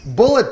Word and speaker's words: Bulleit: vote for you uh now we're going for Bullet bourbon which is very common staple but isn't it spelled like bite yes it is weird like why